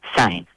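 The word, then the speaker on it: sain: It's spelled like how you would spell in Patois, S-A-I-N, sign, right?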